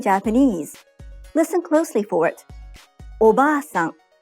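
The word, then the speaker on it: おばあさん: Oba-san. The a in ba is held for 2 claps.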